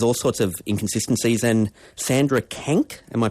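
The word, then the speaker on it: Sandra Kanck: And Sandra Kank, am I pronouncing her name right?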